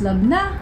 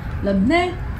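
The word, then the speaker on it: labneh: So, somebody told me it's pronounced labna, labne.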